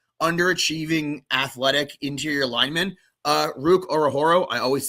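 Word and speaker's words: Ruke Orhorhoro: Uh Ruk Ororo. I always say it wrong, but it's uh Ruk Ororo from Atlanta.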